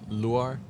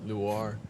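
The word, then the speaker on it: Luar: Uh, so my name is Luir. Um, Lu. Yeah, Luir. Spell that.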